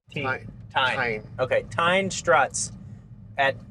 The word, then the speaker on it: Tein: Tein.